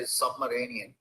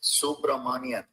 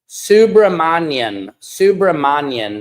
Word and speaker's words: Subramanian: I heard another reporter say submarinian. Come on, you guys. It's Subramanian. Subramanian. That is how you pronounce his name.